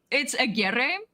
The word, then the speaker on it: Aguerre: No, it's Aguerre. It's Aguerre. Mexican.